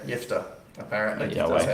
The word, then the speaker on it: Jephthah: Jephthah? Is that how- Interesting spelling. So you just say soft J? Yeah, soft J. Jephthah.